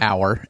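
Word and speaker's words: Auer: Hour.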